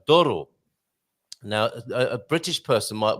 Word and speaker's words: Douro: And Doro.